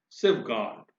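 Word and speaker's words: safeguard: सेफगार्ड, सेफगार्ड, आप देखिए यहां पर गार्ड का र हम नहीं बोल रहे हैं प्रोनाउंसिएशन में।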